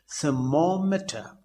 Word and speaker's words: thermometer: But the stress as far as information is concerned is at the 3rd syllable, that is MA, information. And in thermometer, it occurs at the 2nd syllable, thermometer. In motif, it occurs at the 2nd syllable, motif.